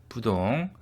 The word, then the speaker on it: 부동: 또 이 글자는 아닐 부로도 발음됩니다. 디귿이나 지읒 뒤에 오면은 부로 소리 납니다. 디귿이 오면은 앞에 부가 됩니다. 그래서 부동, 지읒이 왔죠. 그래서 부정이 되겠습니다.